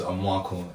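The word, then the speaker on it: Amoako: My surname is Amwako, A-M-O-A-K-O. Oh, what? So it's that again? Amwako. Amako. Yeah, that's say it properly. That's what I'm saying. You try to say Amwako. No, but he didn't say it properly. He said Amwako.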